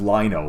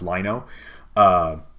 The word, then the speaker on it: Lino: It is pronounced Lino, by the way. They explained that it's I think it stood for Live Now or something like that, so it's pronounced Lino.